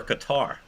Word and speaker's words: Qatar: right he knows Graham is it cutter or Qatar oh man like you I was told it was cutter but I I'd be